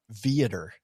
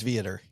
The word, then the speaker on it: Viator: I do the same thing on Viator. Uh-oh, I knew you were going to say it wrong. It is Viator.